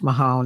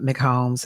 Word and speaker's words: Mahone: It's Mahone, not McHolmes.